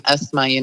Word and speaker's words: Asma: And my name being Esma, it's spelled ASMA, can easily be confused or mispronounced.